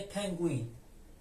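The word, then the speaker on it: pingüino: اما اینجا یو کاری که انجام میده نوشته میشه ببینین و د تا نقطه‌ای که بالاش قرار می‌گیره باعث میشه که حرف یو تلفظ بشه و حرف خ اسپانیایی تلفظش به گت تبدیل میشه ببینین مانند کلمه پنگوین پنگوین یا همون پنگوان به این اکسنت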